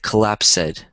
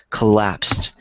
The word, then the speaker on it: collapsed: Yeah, so I think you said collapsed, which is common for people who are learning English, but it's pronounced collapsed. Kind of like there was a T there. It has the T sound, so it's collapsed.